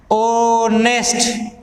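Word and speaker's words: honest: मैंने सेंटेंस को चेंज कर दिया, ही इज ऑनेस्ट, आपने देखा इसको बोला तो ध्वनि ओ की आई, जो ही इसकी ध्वनि निकलेगी वो आपको एन का प्रयोग करना है।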